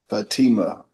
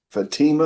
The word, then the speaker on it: Fatima: right fatom and robbles Fatima Fatima is that how you say it yes Miss Robel I'll just